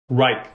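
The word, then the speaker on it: Wrike: Is it Rick? Am I pronouncing that right? Or Reich? Reich.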